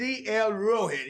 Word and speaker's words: Dlroweht: Listen, I'm going to give y'all, they say, what's the pronunciation? I'm going to tell you, it's Dlroweht. You hear me? The world. The world spelled backwards, baby.